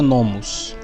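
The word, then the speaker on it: νόμος: E lá, na parte que está escrito lei, em grego vai estar essa palavrinha aqui, ó, essa daqui, que se pronuncia nomos.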